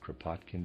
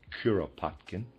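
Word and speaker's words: Kuropatkin: The Russian general Curopotkin, excuse me, I pronounced it Kpotkin before. Readers aside, that's incorrect. It's Curopotkin.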